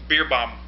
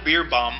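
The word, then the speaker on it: Beerbohm: Jimmy, can you pronounce this guy's name? Beer Bomb. No, it's Beer Bomb. Lyle Beerbong.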